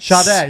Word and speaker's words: Sade: It's I never actually know how to pronounce his name. Is it Sade? Sade, yeah.